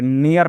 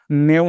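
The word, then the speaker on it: new: उच्चारण करना है। यहां पे एन ई ए R near पढ़ना है।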